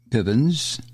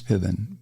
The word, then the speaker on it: Piven: um now Francis Fox Pivens I don't know why it's hard to say her name Francis Fox Piven Piven not Pivens she's a sociologist and